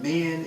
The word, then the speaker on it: Min: And men, in this case, is spelled M-I-N.